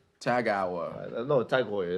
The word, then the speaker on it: TAG Heuer: Tag Hour. Tag Hour. No, Tag Heuer. It's actually Tag Heuer. Yeah. It's like, because I imagine it's pronounced the same as that goalkeeper Neuer.